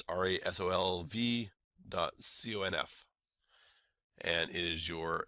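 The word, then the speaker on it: resolv.conf: comp is spelled without a trailing e on resolve so it's rolv docf and it is your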